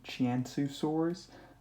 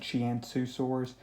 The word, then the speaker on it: Qianzhousaurus: with at one time I believe I was pronouncing it completely wrong uh like I was pronouncing it more with the actual cue and with the age but from what I've seen more I think it's pronounced more like chiantu sores so and I still could be wrong though but from what I've seen that's what it appears to be pronounced so that's what I'm